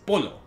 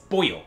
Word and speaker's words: pollo: Like, I completely forgot that in Italian, they actually don't do the classic double L-Y sound in Spanish. Like, in Italian, chicken is pollo. Oh, is it? Yeah, but in Spanish, it's pollo. But it's spelled the same.